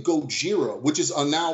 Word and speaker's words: Gojira: godzilla is like phonetic for the way Japanese pronounced Godzilla no no the the name the name Gojira which is now like a heavy it's like